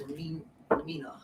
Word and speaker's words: Amina: Am I saying it right? Timestamp? No, Amina. Oh, it's Amina. Amina? Yes. Such a pretty name. Amina.